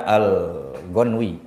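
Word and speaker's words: الغنوي: Kalau Syekh Nawawi membacanya al-Ghanwi, ya.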